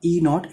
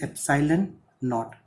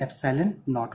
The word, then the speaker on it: epsilon naught: This is not E naught, it is epsilon naught. always try to pronounce it as epsilon naught only.